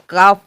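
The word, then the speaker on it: calf: भी साउंड नहीं है सी ए एल एफ काफ काफ होता है काफ नहीं होता है काफ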